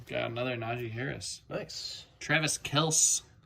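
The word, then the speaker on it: Travis Kelce: another naji harris nice travis kels saw in a video that that's actually how he pronounces the name play really need to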